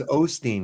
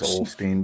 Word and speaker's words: Osteen: No, there's no L. There's no L. I think it's Joel, isn't it? Yeah, but not his last Osteen. name. It's Osteen now.